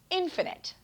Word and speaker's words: infinite: time by the way the opposite of finite is infinite notice that change in how we pronounce it infinite something is infinite if